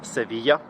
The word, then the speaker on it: Sevilla: In Latin, the Latin language, the city is pronounced Sevilla.